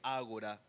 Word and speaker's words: ágora: Algunos dicen agora, pero bueno, tiene acento en la a al menos esta palabra como lo encontré agora.